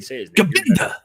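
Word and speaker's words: Gbenda: How do you say his last name? Nice play. Let's see. David Gabenda. As in, you bent over, Milroe.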